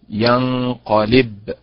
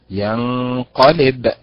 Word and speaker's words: ينقلب: كذلك قلت ينقلب، هي ليست ينقلب، هي ينقلب. لماذا؟